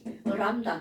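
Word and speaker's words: λ: 그리고 읽을 때는 뭐라고 읽어주냐면 이거 저기 한자어 아니에요? 람다. 그리스어입니다.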